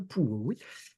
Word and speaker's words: Puławy: On ne parle pas le polonais, mais je crois qu'on prononce comme ça, Pułowy, c'est-à-dire une résidence princière sur les bords de la Vistule où ils ont donc un palais.